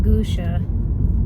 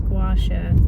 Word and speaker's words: gua sha: I had said it wrong earlier. It's not gusha. I know that now. It's gua sha.